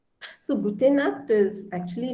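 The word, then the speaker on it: gute Nacht: it's pronounced as cur so here uh it's pronounced as cur so nut is night gute nut so gute nat is actually not a greeting word it's a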